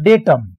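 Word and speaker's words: data: एक वर्ड होता है डेटम, डेटम में यू एम होता है, यू एम अटके ए हो जाता है डेटा, डेटा भी कहते हैं डाटा भी कहते हैं, दोनों उच्चारण सही होते हैं।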